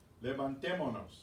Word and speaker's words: levantémonos: Have the accent on the stressed syllable. Levantémonos.